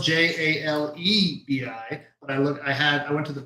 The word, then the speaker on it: jalebi: Okay, so for the jalebi, which is spelled Jalebi, but I went to the pronunciation website because